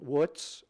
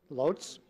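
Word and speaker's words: Łódź: middle class Jewish parents in woods or Lutz Poland depending on the way you want to pronounce it loads okay an elephant if we want to be true to the Polish how would we say it there we go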